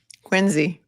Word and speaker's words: Quincy: But how do you say it? Quinzy. Quinzy. Wow. What do you say? They've been teaching me. Quincy. No, it's Quinsey. Quinzy.